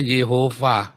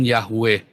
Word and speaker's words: Yehuwa: bawahnya Wow ada cometnya bacanya Yehuwa bukan Yahweh lalu mereka Tunjukkan naskah